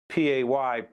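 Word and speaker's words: Pai: Michael, along those lines, is this connected pay? It it's pronounced P A Y, but it's actually spelled P A I.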